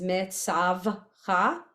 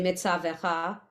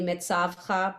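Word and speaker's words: מצוך: So it's mitzavcha because the shva, Oh, interesting. because you have this one, mitzav. I've heard people say mitzavecha. I think it's technically mitzavcha, but you know, we say it like we hear it often.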